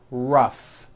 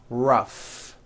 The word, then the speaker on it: rough: and the last word rough notice the GH combination in that word rough let's work on this